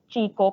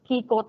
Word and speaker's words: Kiko: So, pronounce it as Chico, pero Kiko talaga yon.